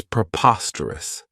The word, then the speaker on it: preposterous: I really like is preposterous this adjective has four syllables and the stress is on that second syllable Preposterous remember that OS has that schah that sound this means that something